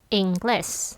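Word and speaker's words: inglés: English. Yeah. English. That's it. A little bit of accent in the last in the last syllable in the last part in the English.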